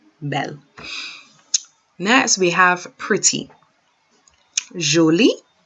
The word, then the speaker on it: joli: Jolie or jolie. It's pronounced the same.